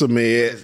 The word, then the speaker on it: Ahmed: Is it Ahmad or Ahmed? You know I don't pronounce it by the name correct. It's Ahmed.